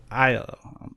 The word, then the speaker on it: Aiello: All right, today we are joined by Vincent Aiello. Did I pronounce that right? Normally it's Aiello, but that's fine. Yeah, close enough. Aiello.